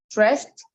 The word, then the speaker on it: dressed: Dress, dressed, dressed. We don't pronounce letter D, we pronounce letter T.